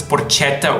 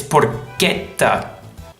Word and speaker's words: porchetta: I don't see why this is ever pronounced as porchetta or porchetta. It's porchetta. Porchetta. Pork. Think about it. The same as with forchetta, which means fork.